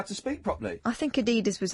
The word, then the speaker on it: Adidas: European way, Adidas. Adidas. What? Adidas. The American way, Adidas.